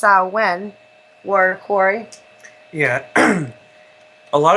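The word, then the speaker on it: Samhain: of now what I would say would be Sam Hayne but it's actually pronounced saen word Corey yeah a lot of people have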